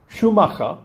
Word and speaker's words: Schumacher: En su patria alemana pronunciarían Schumacha.